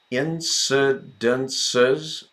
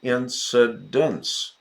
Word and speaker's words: incidents: back a second here incidences four syllables no just the plural of incident incidents 27 incidents three syllables incidence of speeding the